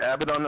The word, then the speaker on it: Abaddon: Are we pronouncing your band name right? Is it Abbidon incarnate?